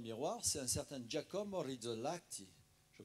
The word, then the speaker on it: Rizzolatti: C'est un certain Giacomo Rizzolatti. Je prononce bien?